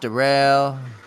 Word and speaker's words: Darrell: Darryl Henderson's handcuffed Darrell Henderson is a handcuffed pronounced Darrell I mean really expect I mean I guess